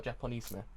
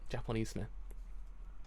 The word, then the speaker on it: Japonisme: Correct pronunciation for this word. Oh, Japonisme. That's it. Japonisme.